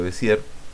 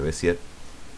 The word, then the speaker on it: Bézier: Vamos con las curvas de Bézier, o de Bézier. Sonó casi igual, pero le quise dar la sílaba tónica en la primera E.